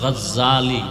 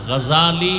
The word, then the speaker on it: গজালি: বলে গজ্জালি না, গজালি বিশুদ্ধ উচ্চারণ, গজ্জালি না।